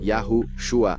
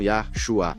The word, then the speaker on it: Yahushua: Hei Vav Shin Ayin, e isso se pronuncia Yahushua, não Yahshua.